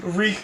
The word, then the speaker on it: Reek: As Jeff is saying, Reek button. yeah, my name is Reek. It rhymes with leak.